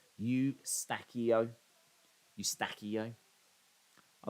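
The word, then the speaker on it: Eustáquio: to look for uh it's pronounced you stackio you use you stackio that's how it's pronounced eustachio oh okay thank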